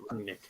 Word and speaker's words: Rangnick: It's just pronounced Rangnick.